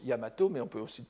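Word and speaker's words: 大和: c'est à dire que normalement c'est daiwa qui est écrit qu'ils se prononcent yamato mais on peut aussi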